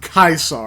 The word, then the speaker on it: Caesar: being like, these fucking slavers, and like it's pronounced Kaisar.